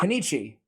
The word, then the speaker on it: Kunoichi: I say Kunichi, but it looks like Kunoichi.